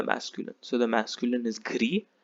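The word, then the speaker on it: gris: so the masculine is gree the s is silent gree the feminine gets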